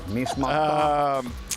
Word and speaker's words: Nice Matin: That's just like this really nice kind of casual French bistro in the Upper West Side called Nice Matin. I hope my pronunciation is right there. Nice Matin.